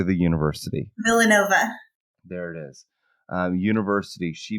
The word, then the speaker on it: Villanova: by politics after attending immigration law courses at villanovic how do you say the university Villanova there it is University she began serving as